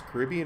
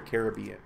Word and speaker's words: Caribbean: See how he pronounces it, whether it's Caribbean or Caribbean. Because I know both are considered correct, but I've always wondered how someone who's from there pronounces it.